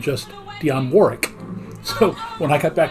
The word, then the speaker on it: Warwick: w i c k they don't pronounce the w so while I was living there a very very famous American singer named in the United States Deon Warwick had several big hits